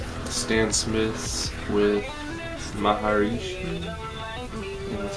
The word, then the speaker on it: Maharishi: Stan Smith's with Maharishi.